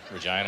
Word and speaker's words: Regina: Regina. I like Regina, man. They call it the city that rhymes with fun.